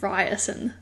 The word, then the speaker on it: Riorson: So I just said, and when I was reading it, I said Rawson. I imagined Riorson. Is that the... Okay. But, so in the audiobook, I've heard audio, it's Ryerson.